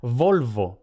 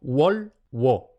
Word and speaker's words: volvo: No se pronuncia labio dental, no se pronuncia Volvo, no. Se pronuncia como la W del inglés, como Wolwo. Los hispanohablantes tenemos que tener especial cuidado en pronunciar wo, no guo, poniendo una G al principio. No wolguo, sino wolwo.